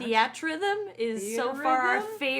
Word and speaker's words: Theatrhythm: in video games this week, we have that Final Fantasy music game whose name I'm not going to try to pronounce. Theatrhythm is so far our Theatrhythm?